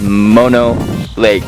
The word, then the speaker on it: Mono Lake: were having an argument about how do you pronounce Mono Lake I think it's mono like the drug